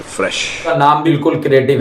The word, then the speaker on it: FRSH: एक brand launch किया है हाल ही में, उसका नाम है फ्रेश। नाम बिल्कुल क्रिएटिव है। और फ्रेश की स्पेलिंग सुनो, FRSH।